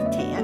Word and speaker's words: Thea: It's the Geelong Friday with Taya at the Victoria Sampler. My name's Taya, and by the way, you spell it Thea.